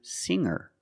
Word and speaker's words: singer: can change sing to singer. When I change these words with eer, I don't pronounce the g sound. It's just the nasal m linked together with the together. Hang hanger. There's no g sound.